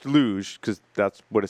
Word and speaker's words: LUJ: This week, we learn about the LUJ, pronounced LUJ, because that's what it says in my show notes.